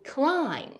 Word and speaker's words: climb: 第三个 MB 结尾 B 不发音，比如 Climb, Thumb.